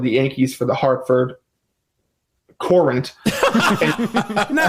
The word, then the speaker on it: Courant: She covered the Yankees for the Hartford Courant. Now, how is that? Isn't it spelled current like normal? Well, no, it's spelled Courant.